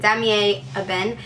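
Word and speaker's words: Damier Ébène: I think there's like so many people pronounce it so many different ways, and I think that's the way you say it, Damier Eben.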